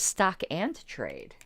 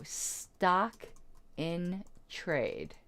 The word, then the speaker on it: stock in trade: the stock and trade is the phrase stock in trade I always thought it was stock and trade have I been saying it wrong my whole life don't you hate when that happens when you learn you've been saying something wrong your whole life so stock in trade okay here Dr Google